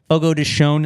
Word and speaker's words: Fogo de Chão: Like if you go to Fogo de Chao, Fogo de Chão is the correct pronunciation.